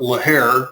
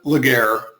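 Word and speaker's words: Laguerre: I'm getting that right we've had much debate within our chat rooms on how prec specifically to pronounce that usually I call it laare which is something I don't have anymore but we'll call it leair for tonight's session so here we go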